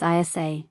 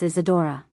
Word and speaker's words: Isadora: Princess Isa. Did your mom not teach you pronunciation? It's Princess Isadora.